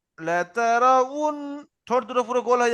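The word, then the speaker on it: لَتَرَوُنَّ: যাবে ঠোঁটের মাঝখানে কিন্তু খালি থাকবে তাহলে এখানে উচ্চারণ কি হবে লাতারাউন লাতারাউন ঠোঁট দুটো পুরো গোল হয়ে যাবে ঠোঁটের মাঝখান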